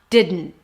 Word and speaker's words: didn't: We have de and then it's a D, and then you release the air through the nose. That's technically the N. And then you stop it abruptly. That's the T at the end.